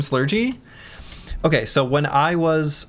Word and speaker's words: Slurgi: blah, and out pops Slurgy. I have used it ever since. And even though I pronounce it slurgy, I accept any pronunciation.